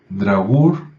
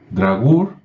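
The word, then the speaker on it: draugr: al morir en un drag sí se escribe de r a u g r drag que suena muy parecido a muy parecido a dragón o a Drácula o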